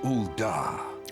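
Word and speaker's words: Ul'dah: of defiance her name ulda okay second syllable thank you narrator appreciate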